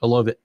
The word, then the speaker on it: Olave: Olave.